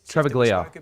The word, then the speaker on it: Travaglia: I've been hearing that both Travaglia, that's how you say his name, and Toru